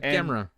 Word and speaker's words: Gamera: And somebody in this group of folks finally pronounced Gamera right. They said Gamera.